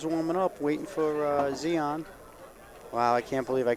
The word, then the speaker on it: Zion: okay well Holden's a woman up waiting for Zeon wow I can't believe I called them Zion all these years I feel so bad that's